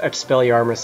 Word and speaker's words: Expelliarmus: It took me like 5 years to figure that Expelliarmus is pronounced Expelliarmus and not a number of other ridiculous pronunciations.